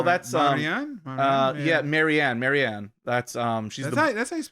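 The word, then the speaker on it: Marianne: Marin oh oh that's um Maran Mar yeah maranne maranne that's um she's that's how that's how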